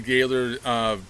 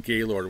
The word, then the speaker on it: Gaylord: But she was raised down by Grand Rapids, and so she keeps saying Gaylord with a spelling pronunciation. But everyone says Gaylord, Gaylord, right?